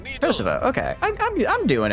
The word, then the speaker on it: Kosovo: VO rhymes with though. Co. Kosovo. Kosovo. Kosovo.